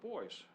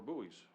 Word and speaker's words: buoy: So, another thing is you can also have private boys or buoys depending on how you say it.